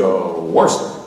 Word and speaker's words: Worcester: I said, pronounce this county. He said, Worcester, like real quick, like that.